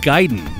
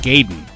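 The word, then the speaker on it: Gaiden: speaking of which it's ninja giden not ninja gayen but I can understand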